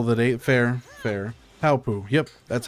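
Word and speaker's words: Paopu: Palpu. Yep, that's how you pronounce the star-shaped fruit from Kingdom Hearts.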